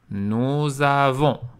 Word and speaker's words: nous avons: une voyelle à homme il faut faire la liaison est prononcé nous avons vous avez la même